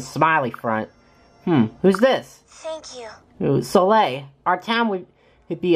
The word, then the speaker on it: Soleil: that was good sorry Oh Soleil that's how you pronounce it okay so I'd be calling slowly this whole time so now I'm an